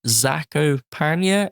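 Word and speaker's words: Zakopane: going to be in zako paa in Poland that's how you pronounce it in May I think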